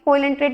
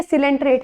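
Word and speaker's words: Coelenterate: तो फाइलम कोइलेंट्रेट में इसको सिलेंट्रेट बोलते हैं, सॉरी कोइलेंट्रेट इसकी प्रोनाउंसिएशन नहीं है, सिलेंट्रेट है, तो संघ सिलेंट्रेटा यानी इसमें कौन कौन से आएंगे, हाइड्रा।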